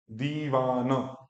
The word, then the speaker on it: दीवान: लेकिन ई को यहाँ पे क्या बोलना है, 2 सेकंड का टाइम देना है। दी वा, फिर न, दीवान, दीवान।